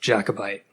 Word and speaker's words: Jacobite: Did they say Jacobite? Yeah. Believe it's pronounced Jacobite. Nice.